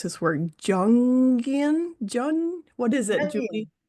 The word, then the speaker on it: Jungian: People who see beyond the lifelong student of and I can't pronounce this word jungian. Jun what is it Julie? It's young psychology.